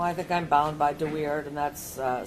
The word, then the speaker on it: DeWeerd: Well, I think I'm bound by DeWeerd, and that's spelled D-E-W-E-E-R-D, and that is 511 Mich 979.